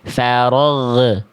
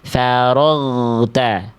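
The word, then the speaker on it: فرغت: Karena yang B huruf ginnya ada bunyi E di ujung pelafalan ginnya. Farag. Nah, itu terlepas makhraj huruf ginnya. Jangan terlepas. Tekan terus, Teman-teman. Faragta.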